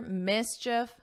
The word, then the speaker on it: mischief: And it's just like if you were saying if, mischief, mischief.